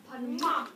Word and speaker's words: Panamá: Notice the accent is on the A, so that's where you can stress. Panama.